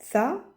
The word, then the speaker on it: ث: Il y a tha, tha. On appuie sur la prononciation.